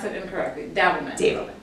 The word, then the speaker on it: Davelman: I always pronounce it incorrectly. Davelman. Davelman. It's Davelman.